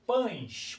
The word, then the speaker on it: pães: Observe a palavra pães, por exemplo. Pães, você não pronuncia pães, o é o e sai com som de i, ó. Pães, não é verdade?